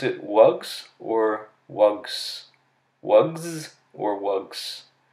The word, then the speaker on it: wugs: Your ability to add the plural s and to use the voice pronunciation of it, z, was not due to imitation because you've never heard of a wug before.